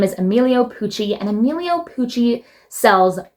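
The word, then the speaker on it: Emilio: Next, we have the designer brand Amelo Pooie, spelled E-M-I-L-I-O space P-U-C-C-I.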